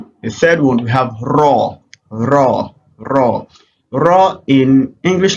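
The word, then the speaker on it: ر: ra so this is raw so you can pronounce a ra just like or you pronounce it as ra just like very okay so that is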